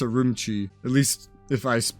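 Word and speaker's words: Ürümqi: I would be messing up as Uramuchi, but I'm pretty sure it's Urumchi.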